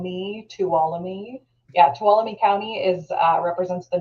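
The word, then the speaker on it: Tuolumne: with madira County yes that is correct uh talami County like f me toam yeah talami county is uh represents the northern entrance so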